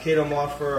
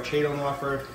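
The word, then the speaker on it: Chaetomorpha: That's Cato-morpher or Chato-morpher. That's basically how people pronounce it. People just call it Cato for short or Chato for short, depending on how you pronounce it. It's one or the other.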